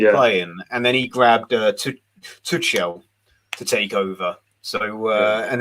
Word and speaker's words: Tuchel: Well, I'm pronouncing it the way I've been told to pronounce it, which is Tuchel.